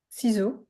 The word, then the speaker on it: Cixous: I think I say the name wrong. However, Cixous. Ciseaux. Yeah. Yeah, Cixous.